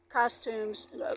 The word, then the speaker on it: costumes: suits and ladies um costumes. Actually suits are called costumes in French. They costume you don't pronounce the s in French even though it's plural.